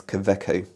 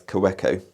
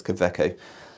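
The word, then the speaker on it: Kaweco: commonly used but anyway interestingly the w we pronounce that as kaveco now i have heard people uh from various countries around the world which aren't german speakers and pronounce it as cowecko but no it's koveco so that's just a little bit of information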